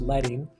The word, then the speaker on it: leading: Number two, leading, sorry, letting actually it's pronounced letting space between lines, also called line spacing.